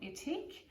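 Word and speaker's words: Ethique: Well, as a quick demo, I'm going to use a genius product from Etique, which is spelled E-T-H-I-Q-U-E. It's a New Zealand company. Yes, I am pronouncing it right, I checked.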